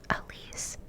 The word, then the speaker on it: Alise: If your first name is 2 syllables, for example, my name is 2 syllables, Alise, then I want you to guess what temperature my AC is set on.